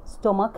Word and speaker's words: stomach: وعندنا inside and outside the body اللي هو blood, bones, heart, skin و stomach اللي هي المعدة. خلوا ببالكم أنه دائما هنا stomach ال CH تلفظ stomach.